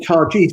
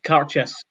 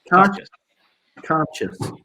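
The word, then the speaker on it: Cairdeas: And I've always called it Cargis, but what's the exact pronunciation? Can you remind me again? Edis. So the pronunciation is Carchis. Carchis.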